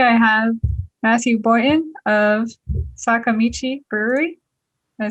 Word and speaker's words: Sakamichi: Today I have Matthew Boynton of Sakamichi Brewery.